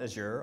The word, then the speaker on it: Azure: page about what what Azure was you can call it Azure also if you're from Europe or Canada or something but um the way I describe it is azure rhymes with Badger so okay so um